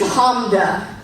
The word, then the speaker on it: Hamda: give me a nickname My name is Hamda Two syllables Clap it out if you need to